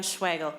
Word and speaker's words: Schwagel: For the record, my name is Ann Schwagel, rhymes with bagel.